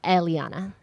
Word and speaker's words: Eliana: Eliana, right? You're very close. Eliana.